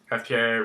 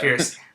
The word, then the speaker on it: Pierce: I only have very faint memories of Pierre Brosnan. Is that how you say his name? Cheers. Yeah. Pierce.